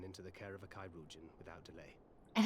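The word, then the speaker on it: chirurgeon: But it's imperative we get him inside and into the care of a Kaouin without delay. And it's pronounced Kyuan. Like Chimera. Kyan.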